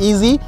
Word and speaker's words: EZ: ईजी centre stand है, जिसको ये ईजी की स्पेलिंग लिखते हैं EZ, और इसको ये लोग बोलते हैं ईजी।